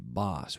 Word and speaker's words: boss: some of my students they confuse the word with bus they Alto bouche so